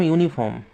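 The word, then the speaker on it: uniform: ঠিক আছে, তারপর ধরো বললাম ইউনিফর্ম। ঠিক আছে, এখানে কী বসবে, এ বসবে, এখানে কিন্তু কখনোই অ্যান বসবে না, কেন? বিকজ এটার উচ্চারণ কিন্তু ইউ এর মতন আসছে, ইউ এর মতন কিন্তু এর উচ্চারণ, তাই জন্যই কিন্তু এখানে কী আসছে, এ বসছে।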